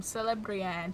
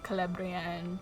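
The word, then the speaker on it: Celebrían: I was calling them things like Círdan and Celebrian, thinking it was a soft C. No, it's always a hard C. Círdan, Celebrian, Celebrindle.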